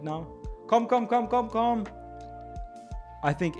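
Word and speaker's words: kom: It's because it's Swedish. Com. It's not com. It's com. K O M. And so they know that. Probably if I scream come right now. Come.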